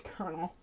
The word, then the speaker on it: colonel: call Colonel well this it is Colonel that is how you pronounce that word weird right um but also